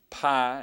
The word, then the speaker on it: pi: be true but uh this is the letter Pi and that's how we're going to pronounce it pi and it makes the p p sound as in pin p p all right